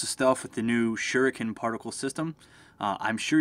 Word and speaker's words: shuriken: stuff with the new shuriken particle system uh I'm sure you're going to hear me pronounce that that like four or five different ways I always say shuren even though it's pronounced shuriken um though I'm sure maybe